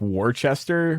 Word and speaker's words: Worcester: It's just, nationwide is Worcester, Massachusetts, where it's like, I believe it's like it's spelled like Worcester, but it's like Worcester.